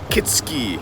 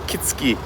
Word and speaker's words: Kitsuki: Good morning from the castle town of Kitski or Kitsuki. It's spelled Kitsuki, but it's Kitsky.